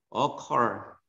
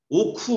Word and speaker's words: occur: 이거 발음을 어려운 사람들 있는데 발음 좀 써보자 여기다가. 컬 어컬 어컬입니다. 억지로 발음 쓰니까 더 어렵네요. 오쿠 뭐 이런 거 아니라고.